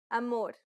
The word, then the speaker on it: amor: is ah la alfasi amor this vowel sound is very similar to the a in Father this vowel sound is